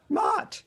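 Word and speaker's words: Motte: Mott. How do you say- It's M-O-T-T-E. Yeah, Mott. Almost like moat, but okay, Mott, okay.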